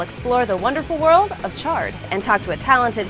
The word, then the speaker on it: chard: According to Merriam-Webster, chard is pronounced with a ch sound, like chocolate or choo-choo.